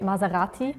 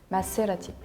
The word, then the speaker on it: Maserati: not the S yeah in French we pronounce it like a set because if we have on Only One S between two voils you pronounce it like that if there was two s we will say Maserati no in Germany I